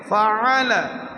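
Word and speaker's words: فَعَلَ: সবাই বলি আলাম তার, আলাম তার, আলাম তার, আলাম তার কাইফা ফাআলা, আইন গলা চিবিয়ে কন্টনের মাঝখান থেকে উচ্চারণ করতে হবে ফাআলা, ফাআলা।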